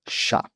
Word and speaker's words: chá: Diferente dos nossos colegas ibéricos que utilizam a pronúncia T, oriunda da região de Fudien, no sul da China, inglês T, T, T, todos francês, italiano, todos, mais, nós falantes da língua de Camões mantivemos a forma chá.